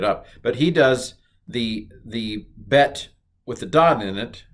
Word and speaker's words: bet: Okay, the second letter of the Hebrew alphabet, thankfully, is like the second letter of the English alphabet. It's Bet, alpha, Bet.